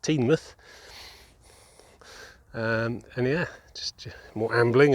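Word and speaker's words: Teignmouth: baba kum and uh tame mouth which i've learned is now pronounced teen myth and yeah just more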